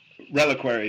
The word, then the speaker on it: Reliquary: Is that how you pronounce it? Reliquary, yeah.